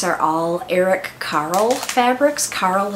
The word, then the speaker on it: Carle: Carle is spelled C-A-R-L-E, and it looks like Carly, sort of, but he's the guy that did the Very Hungry Caterpillar.